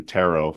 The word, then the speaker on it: tarot: or teach us how we could get into tarot if I'm saying the word correctly I've heard it pronounced few different ways yeah you are saying